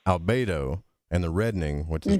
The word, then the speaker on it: albedo: is pronounced Negreto, and the whitening, which is pronounced Albedo, and the reddening, which is pronounced Rubedo.